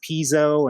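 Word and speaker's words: Pizzo: and Spa and Angelo I've heard it pronounced piso and then Piezo I think it's Piezo I think it's Piezo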